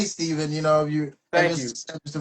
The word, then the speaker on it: Stephen: I mean, you say Stephan. I'm like, okay. It's Stephen.